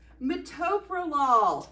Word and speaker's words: metoprolol: when people mispronounce this drug how would you pronounce this drug and what's that drug oh metatopalon it's metoprolol a beta blocker hey jennifer you know when